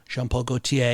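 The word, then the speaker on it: Jean Paul Gaultier: Jean-Paul Gaultier, yeah.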